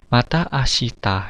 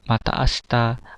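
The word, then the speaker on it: また明日: Bacanya bukan asita ya, mata asta, asta. Jadi sinya agak hilang ya, mata asta gitu ya. Nanti sinya keluar sendiri, mata asta ya. Ada latih ya pengucapannya. Nah, bukan mata asita, nanti salah ya, mata asta. Jadi tidak terlalu terang ya.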